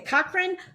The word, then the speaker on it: Cochrane: in her hometown of, and I want to pronounce this right, is it Cochrane? Okay, Cochrane, Alberta, Canada, right?